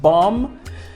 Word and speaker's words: bomb: have never understood why the B must be silent in in plumber and and comb and bomb that's what English language